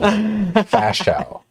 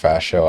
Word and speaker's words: Ferchaud: Ferchaud. If anyone read that and pronounced Ferchaud, I'm impressed.